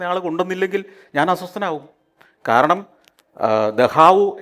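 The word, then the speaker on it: Dachau: കൊണ്ടുവന്നില്ലെങ്കിൽ ഞാൻ അസ്വസ്ഥനാകും കാരണം ദഹാവു എന്ന സ്ഥലത്തിന്റെ പേര് ഞാൻ പറഞ്ഞ ദഹാവു എന്ന് പറയുന്ന ഒരു കോൺസൻട്രേഷൻ ക്യാമ്പ് ഉണ്ട് ജർമനിയിൽ ഈഡിഎ ദഹാവുന്റെ സ്പെല്ലിങ് അങ്ങനെയല്ല പക്ഷേ ഈ ദഹാവു എന്ന് ഉച്ചാരണം കറക്റ്റ് ആയില്ലെങ്കിൽ എനിക്ക് പ്രശ്നമാണ് പുറത്തു പോയി പഠിക്കണമെന്നും ജോലി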